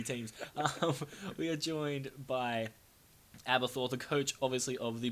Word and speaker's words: Aberforth: Anyway, so guys, I am obviously joined by do I call you Aberforth? Is that? That is how you pronounce it.